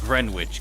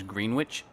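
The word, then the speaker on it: Greenwich: Gren Witch cover, which I always for a long time I did pronounce it as Green Witch because that's what it looks like it says.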